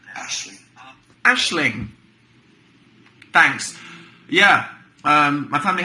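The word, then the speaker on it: Aisling: see pronunciation Hub it's an Irish name it's pronounced Ashley Ashling thanks yeah um my family have a dog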